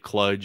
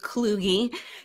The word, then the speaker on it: Kluge: how to say it if you introduce me as cludge or cludy whatever it was I just nod and smile it is kugie yeah you got it